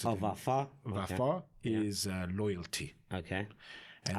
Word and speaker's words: Vafa: how you pronounce it? Oh, Vafa.